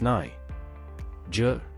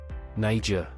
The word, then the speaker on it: Niger: Pronounced as Niger. Niger. The first syllable is pronounced as Ni, rhyming with my.